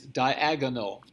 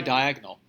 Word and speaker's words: diagonal: geometry words ever diagonal it's diagonal four syllables not three yes diagonal most people say diagonal give me this diagonal